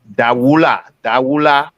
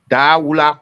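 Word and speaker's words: Dahwula: the Cash App or something, the name is Dawula.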